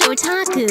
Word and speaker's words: otaku: Well, that's pronounced otaku.